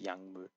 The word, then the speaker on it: 약물: So when you have a 기억 and a 미음, obviously it's 약물.